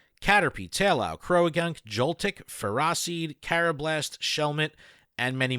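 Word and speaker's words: Ferroseed: biomes for forests caterpie taylor crowe gunk joltik ferracid carob last shellmet and many more and yes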